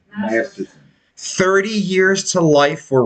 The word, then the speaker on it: Masterson: Matherson? Masterson.